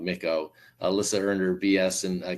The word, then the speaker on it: Micco: And so Alyssa, Micco, I pronounced it wrong, Micco.